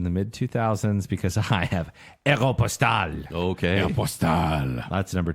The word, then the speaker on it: Aéropostale: And do you say Aeropostale or Aeropostale? Postal. Aeropustule, Ew. I believe. What? I got that when I was in the jungles. And the name comes from the French word, which means French airmail service, Aéropostale.